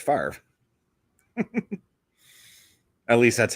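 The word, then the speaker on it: Favre: pronounce Brett fav yeah the r and the V are reversed because it's pronounced far at least that's how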